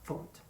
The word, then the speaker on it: faute: So erreur, faute, faute. It's written F-A-U. It's pronounced faute, just like in English, fault.